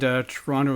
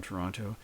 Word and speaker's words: Toronto: So Toronto, Toronto, and just a note on pronunciation for those not from Toronto. And I just said Toronto, but most people say Toronto, but I just said Toronto. So, and sometimes I do